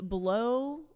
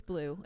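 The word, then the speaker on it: Bleau: Maybe I said it wrong. It's It's blue. It's blue, isn't it? Blue. Yeah, because it's at the fountain blue.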